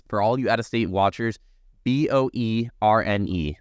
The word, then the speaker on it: Boerne: For all you out-of-state watchers, B-O-E-R-N-E. That's Boerne. That's how it's said out here.